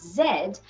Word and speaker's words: Z: this alphabet is pronounced in uk and most countries it is pronounced as zed while the american pronunciation is z nonetheless both pronunciations are